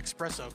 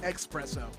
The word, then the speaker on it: espresso: offered everyone a uh espresso coffee yep and then you made fun of me when i said oh it's pronounced expresso well because you're dumb no